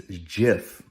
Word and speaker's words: GIF: the creator of the gif the correct pronunciation is jif with a soft g but did you know